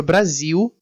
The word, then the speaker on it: Brasil: Na palavra Brasil, nós temos um exemplo disso, em que o L final é pronunciado como a vogal U, Brasil.